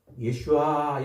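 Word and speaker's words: ישועה: 그래서 여호와의 구원 구원이라는 말은 예슈아 이렇게 말 발음한다고 그랬어요.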